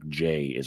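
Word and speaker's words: 字: is a character, like J is a character. Second one is pronounced Ji, and the first one is pronounced Kan.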